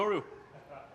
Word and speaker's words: Yoru: I mean, if he's gonna say it like that, it's Yoru.